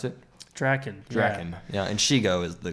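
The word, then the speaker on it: Drakken: How do you pronounce it? Draken.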